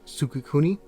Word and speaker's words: Sukekuni: Quick note, I actually got the name wrong. It's actually going to be Sukekuni.